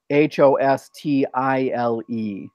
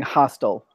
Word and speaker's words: hostile: um unfriendly aggressive mean you're pronouncing your pronouncing H OS t and I think what I probably say said was H OS t IL e it's it's softer hostile and you're saying you're saying hostel hostel the OU is a